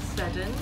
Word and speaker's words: Seddon: I was like, Seddon, is it Seddon? But apparently it's Seddon.